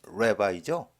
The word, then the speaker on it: Rabbi: 그들이 말하기를 자, 이거 우리가 랍비라는 거, 영어 발음은 레바이죠.